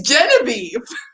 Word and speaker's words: Geneviève: He's like, Geneviève, ma femme. I was like, no, her name is Genevieve.